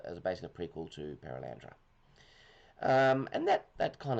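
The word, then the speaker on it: Perelandra: I'm trying to think of the name of the second book and I'm missing a syllable. Perilandra. Keep want to say Pallandra.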